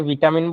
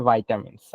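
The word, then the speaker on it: vitamins: বলল ভাইটামিনস বা ভিটামিন আমরা যেটারে ভিটামিন বলি এটার প্রোনাউন্সিয়েশন হচ্ছে ভাইটামিনস আচ্ছা এটাই বলল আর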